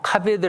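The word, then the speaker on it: כבד: 카베 더 라고 합니다 카메 엔드 히브리 말로 카베 더 라고 읽어요 근데 카베 들으라고 하는 그 뜻이 바로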